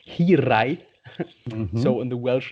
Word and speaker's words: Hiraeth: It's pronounced Hiraeth, Mm-hmm.